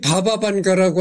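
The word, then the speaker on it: Баба Ванга: 바바벤가라고도 하는데 이는 영어식 발음이다. 바바는 슬라브 어권에서 할머니를 뜻하는 애칭으로, 러시아어로 할머니를 뜻하는 바부슈카와는 근연관계에 있는 어휘다. 말하자면 반가 할머니쯤 되는 명칭이다. 그래서 이 바바반가라고 하는데, 바바라는 거는 이렇게 할머니를 지칭하는 뜻이라는 거죠.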